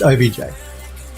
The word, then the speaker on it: OBJ: Android Lost says, just imagine if somebody asked for an OBJ but pronounced it like they're saying object. Yeah, no, it's OBJ.